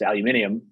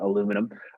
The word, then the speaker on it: aluminium: yeah let's take alumina it's aluminium i got that pronunciation right not aluminum um you know you